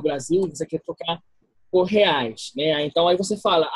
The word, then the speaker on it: reais: Por reais. Como? Reais. Esta R em português, a R inicial em uma palavra se pronuncia como uma J em espanhol. Então, dizemos reais. Reais.